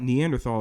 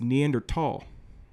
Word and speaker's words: Neanderthal: And even if you're 10% Neanderthal, actually it's not Neanderthal, it's Neanderthal. H is silent.